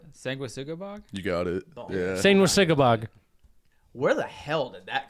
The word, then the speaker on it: Sanguisugabogg: And I did spell it right. You did, yeah. Sanguisugabogg.